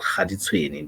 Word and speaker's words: Kaditsweni: It's called Khaditsweni. Their totem symbol is the baboon. They don't write it, they write it Kaditsweni, as in Ka, Kaditsweni. But when you pronounce it, you say Khaditsweni.